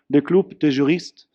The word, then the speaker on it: Le Club des Juristes: prominent think tank called, and I'll pronounce this correctly in French, Le Club des Juristes, that has published actually the report, ironically called Online Arbitration, his very topic today.